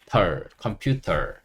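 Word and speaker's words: computer: 컴퓨터, 컴퓨터 이렇게 할 수 있고요. 한국 사람들 특성상 R을 빼고 발음하다 보니까 우리 컴퓨터 하는 게 아니고 컴퓨터라고 하죠. 그렇지만 이런 과정을 통해서 컴퓨터라고 한다는 걸 아시는 게 좋습니다.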